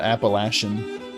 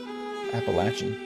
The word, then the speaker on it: Appalachian: Not Appalachin. Appalachian.